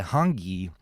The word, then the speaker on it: hongi: So I got Chief Kepa Micah's blessing to do what's traditionally known as a Maori greeting, known as a Hangi, and that's spelled Hongi.